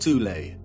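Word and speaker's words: Thule: Prior to the rise of the Nazi regime, there existed an occult secret society within Germany called the soul society, sometimes alternatively pronounced tulle, that had subfactions within it.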